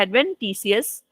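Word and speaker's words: adventitious: ठीक है, एडवेंटिशियस भी बोलते हैं इसको, एडवेंटिशियस भी कुछ लोग बोलते हैं, लेकिन एक्चुअली इसका सही प्रोनाउंसिएशन क्या है, एडवेंटिशियस रूट सिस्टम।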